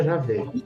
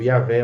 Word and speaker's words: Javé: Em português ficaria Javé. Uhum. A gente respeita essa pronúncia aqui no Brasil, Yahvé ou Javé.